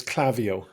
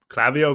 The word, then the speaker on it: Klaviyo: much business to uh is it clavio or clavio well the way I've pronounced it is clavio uh I'd have to